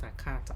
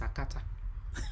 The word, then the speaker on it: akata: said okay number one that word is not a character it's a cutter she said whatever say